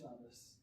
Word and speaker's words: Savvas: Savvas, is that how it's pronounced? Savvas.